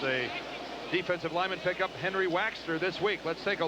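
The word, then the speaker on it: Waechter: There's Henry Waxter. Don't think we're crazy in the way we pronounce it. That's the way he wants us to say it. Waxter. Just like it was W-A-X-T-E-R.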